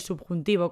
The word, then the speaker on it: subjuntivo: un ejemplo es el subjuntivo como te digo ya que a veces la b no la pronunciamos mucho se escribe subjuntivo subjuntivo